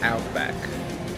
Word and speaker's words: Outback: Então, correta, a pronúncia correta é Outback.